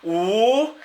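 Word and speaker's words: 五: In Chinese, the number 5 is pronounced "wu," and we would put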